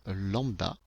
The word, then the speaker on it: lambda: la couleur, qu'on va noter par le symbole lambda. Donc voici la valeur lambda. Si vous ne savez pas comment ça se prononce, je vais vous le marquer ici.